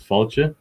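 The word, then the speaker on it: fáilte: my second name and that's how you say welcome in irish as well it's pronounced faulty next please raphael so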